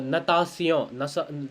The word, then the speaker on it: natation: Similarly, you also have la natation. Natation means to swim. Okay, natation. It's spelled as sion, sion.